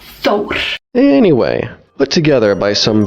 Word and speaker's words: Thor: Oh, by the way, have you ever heard Thor pronounced with the correct Icelandic accent? Thor is Thor. Very strong R. Thor.